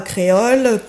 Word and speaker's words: Kreol: fait des recherches sur Barbara créole qui s'écrit k r e o l vous savez que ce